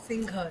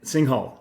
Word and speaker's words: Singhal: Today we have, and I hope I pronounce this correct, Singhai or Singhal, Singhal. and Singhal, yes.